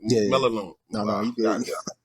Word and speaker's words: Melinoe: Mike Maloney Yeah. Melinoe.